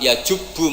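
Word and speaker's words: يجبّ: Terus Nabi ngendikan al-Islamu ya jubbu ma qoblah. Itu bacanya bukan ya jibu tapi apa? Ya jubbu yaktau.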